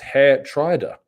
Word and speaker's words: Geertruida: the door Rich says Tom gestu is pronounced hair Trier is it is it